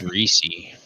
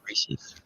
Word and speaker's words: Reese's: Yeah, I think it's pronounced Reesei, right? Reese's. No, Reese's.